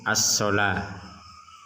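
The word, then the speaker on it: الصلاة: Sementara kata yang kedua kita membacanya as-sholah.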